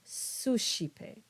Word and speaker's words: suscipe: Finally, we have the sh sound when you have the C between an S and an E or an I. And so you get words like ascendit and suscipe.